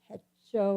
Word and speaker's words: Hecho: I personally like the Hecho and Conroe. Did I say it right? Echo and Conroe, yeah.